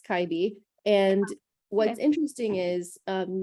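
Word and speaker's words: 갈비: pronounce things before the school i wouldn't have pronounced it that way me either so yeah it's kyby and what's interesting is um nowadays like when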